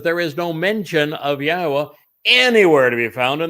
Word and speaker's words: Yahowah: with the following words yahwah yes it says yahwah which is the proper pronunciation of yahweh's name our eloah God as